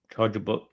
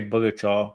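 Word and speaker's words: Charjabug: Charger bug. I always want to say bugger chaw, but it's charger bug.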